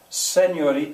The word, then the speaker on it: señor: The letter E is going to have the sound of se, señori, señor. Not E, as in only. Not the sound of E, as in senior. That's English.